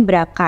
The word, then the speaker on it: BRCA: Kalau bahasa kerennya itu tulisannya brca kita bacanya berapa ya berapa satu dan berapa dua ada mengalami